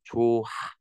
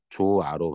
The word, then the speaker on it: 좋아: 좋아는 정상적으로 따지면 조하 발음해야 돼. 왜? 의미 없는 모음음절 같잖아. 어미. 뒤로 넘기는 거지. 조하. 근데 조하 발음이 불편하니까 어떻게 하는 겁니까? 최종적으로는 조아로 발음합니다. 발음은 이렇게 하지만 글은 어떻게 써요?